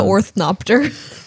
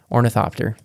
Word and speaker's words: ornithopter: guys bear with me I like the orthop I know that's the very wrong pronunciation of the and I apologize ornithopter there we go that's what it is um I like knowing